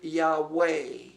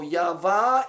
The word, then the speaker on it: Yahveh: you pronounce this letter you do not pronounce it Yahweh it is always pronounced V vive of or vet so Yahveh is more correct and